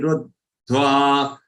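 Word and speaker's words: रुद्ध्वा: Remember, there are three letters here after ru. Half the joined with half the joined with va. Ruddhva, ruddhva.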